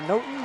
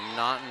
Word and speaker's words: Naughton: And that's going to be number 8, Claire Naughton with the kill. Naughton, excuse me, I keep pronouncing that wrong.